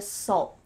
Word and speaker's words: salt: But you can say salt with a stop T and it's gonna sound much more natural.